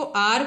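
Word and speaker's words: hour: एच की ध्वनि हमें नहीं सुनानी है, इसको हावर नहीं पढ़ेंगे, इसको आर पढ़ेंगे।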